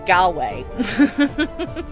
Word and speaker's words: Galway: Galway. Oop. There we go. There we go. Rhymes with hallway for some reason.